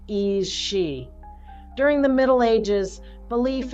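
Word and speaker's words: aos sí: in their own hidden realm the ioc is pronounced e She during the Middle Ages belief in supernatural beings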